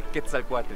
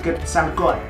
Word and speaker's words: Quetzalcóatl: Podemos subir aquí, al templo de Quetzalcóatl. Vámonos. ¡Qué bien lo pronuncia, eh! Sí. Es difícil, Quetzalcóatl. La TL nos cuesta muchísimo.